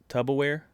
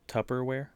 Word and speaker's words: Tupperware: guy didn't know it he pronounced it uh i think it was tub tubberware but it's actually tupperware somebody fact checked me